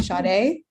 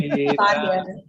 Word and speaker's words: Sadia: I'm going to think you're talking about me because everyone always calls me Sade. Let me hear you pronounce your name. Sadia.